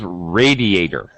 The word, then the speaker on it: radiator: And the last one is radiator. It's an a. It's a long a sound.